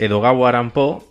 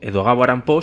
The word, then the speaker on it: Edogawa Rampo: y él, su seudónimo, Edogawa Rampo, si te fijas a la hora de pronunciar, se parece mucho a Edgar Allan Poe, Edogawa Rampo, Edgar Allan Poe, ¿no?